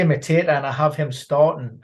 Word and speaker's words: Mateta: You can say Matata. What do you say, Ben? I say Mateta, and I have him starting ahead of Edward.